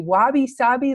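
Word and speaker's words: wabi-sabi: this, and I don't even know how to pronounce it correctly. Wabi Sabi love.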